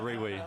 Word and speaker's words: Rewe: Shout out Riwi. It's pronounced Riwi. What is that? Rewe. That's Riwi. Riwi. Riwi. You gotta pronounce it right. You got the W.